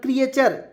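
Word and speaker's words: creature: उसके बाद यहां देखिएगा सी आरई टीय आर क्रिएचर सी आर ए टी हो जाए क्रिएट होता है ना जी और टी य आर चर हो गया तो क्री देख य मैं लिख रहा हूं क्री टी वा चर क्रिएचर यहां पे ये लिख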